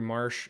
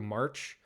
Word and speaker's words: Marsh: during the intro video, my wife pronounced Andrew Marsh, Andrew March.